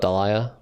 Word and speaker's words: Dahlia: Yeah, what up, Dahlia? Venti, you know this guy? What's his name again? Yeah, to Catboy. I didn't think it was that memorable. Dahlia. Oh yeah, not Dahlia. Dahlia. Yeah. It's Dahlia.